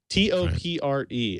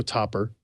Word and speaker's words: Topre: I think I said Topre for a while, and people corrected me on that. So I'm going to go Topper.